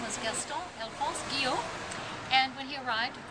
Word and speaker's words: Guyot: And I'm here with one of our cast members, Guyot. And she was telling me a nice little story because I pronounced it Guyot. Which it should be.